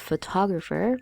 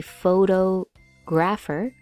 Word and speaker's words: photographer: Also, please be careful with the word photographer because many people will try to say it as a photographer, but that is not the correct way to say it.